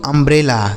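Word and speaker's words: umbrella: आर E double L ए इसे पढ़ेंगे दोस्तों अंब्रेला क्या पढ़ा जाएगा अंब्रेला अब आपको समझ आ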